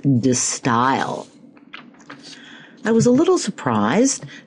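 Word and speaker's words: De Stijl: It's actually, I believe, pronounced D style.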